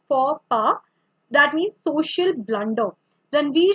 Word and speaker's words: faux pas: So this is not pronounced as fox pass, but it's faux pas.